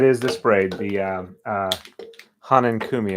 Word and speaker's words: Hanenkumi: the spray the uh Hanan Kumi I believe is how it's pronounced um let me just